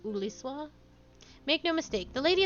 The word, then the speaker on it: Julius: That is not Huliswa? Probably. He will be able to tell you about this said aetherite among other things. I bet the H is silent, so it's like Uliswa?